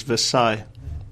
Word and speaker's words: Versailles: think d ah master thing the order of pronunciation is Versailles yeah anyways going back to dread the article